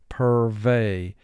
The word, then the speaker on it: purvey: vowel group 6 because e y here is representing the long a sound purvey purvey we do not wish to purvey a sense of doom and gloom per vay two syllables first syllable per two